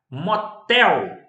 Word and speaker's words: motel: Motel. Sílaba tônica, última.